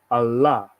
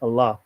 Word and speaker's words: Allah: this is Allah right the word is actually pronounced as Muslims do it today Allah pronunciation Allah actually let me go